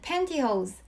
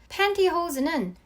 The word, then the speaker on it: pantyhose: 미국 영어로는 pantyhose, 영국 영어로는 tight가 올바른 표현이에요. pantyhose는 T 발음을 해주셔도 되고 아니면 니은 발음으로 이렇게 편하게 해주셔도 돼요.